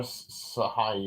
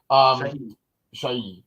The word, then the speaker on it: Shahi: So played by Sarah Sahai or whatever. Shahi.